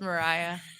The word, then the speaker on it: Mariah: Well, it's in Russian. Her name would be Maria. Okay. But it is, I think, pronounced Mariah from what I've been able to understand.